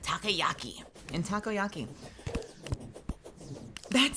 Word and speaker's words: takoyaki: the uh the soybeans in takayaki why did I say it like that takoyaki in takoyaki that sounds